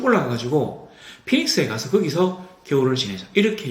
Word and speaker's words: 피닉스: 항구라 베니스라고 되어 있는데 영어로 발음하면 피닉스 피닉스이 크레테의 섬에서이 피닉스라고